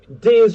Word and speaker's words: Diz: And also, Diz rhymes with quiz, so I think that's a pretty strong reference.